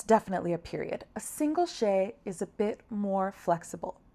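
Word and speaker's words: ཤད: So you can see how the tsek separates between syllables. This next one is a she.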